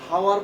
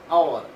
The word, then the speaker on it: hour: উচ্চারণটা কিন্তু হাওয়ার পরে না, আমরা পড়ি কি আওয়ার, আওয়ার।